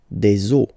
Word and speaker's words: os: but then same rule, you don't pronounce it. Des os.